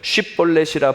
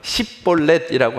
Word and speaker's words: 쉽볼렛: 지나가는 사람들, 쉽볼렛이라 발음하라 하여 에브라임 사람이 그렇게 바로 말하지 못하고 쉽이라고 하지 못하고 십볼렛이라고 하면 그 사람은 길르앗 사람이니 잡아서 죽이라.